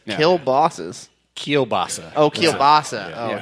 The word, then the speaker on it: kielbasa: kill bosses? Like, didn't you? Bratwurst. No. Bratwurst. that's Bratwurst. right. Yeah. Kill bosses. Kielbasa.